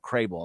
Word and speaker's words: Krehbiel: This article was this blurb of this article was George Crable, and it's Krehbiel, Crable. That's how I pronounce it.